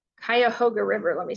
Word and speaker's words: Cuyahoga: nation's water races started in 1969 at Ohio's kite Cuyahoga River let me say it right since I'm